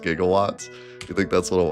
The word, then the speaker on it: gigawatts: Not the going back in time part, but the the jigawatts. They just mispronounced gigawatts.